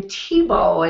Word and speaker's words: Thibau: Here we are to Luke, and you pronounce his last name Thibau, and that's like Tim Thibau, our famous football in the U.S.